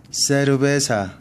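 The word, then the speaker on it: cerveza: 자, 세 다음에 에와 이가 오면 쌍시옷 발음이 납니다. 예를 들면 세르베사. 자, 세르 베사.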